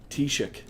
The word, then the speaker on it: Taoiseach: How do you pronounce that? Teosic? Teosic? Vote for me? No. Forgot to put my filter on. Taoiseach? Taoiseach.